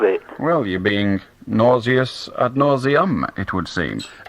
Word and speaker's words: ad nauseam: I'd like to talk about your use of the Latin phrase ad nausea. Ad nausea. The trouble is, if you check the dictionary, it's got an M on the end, ad nauseam.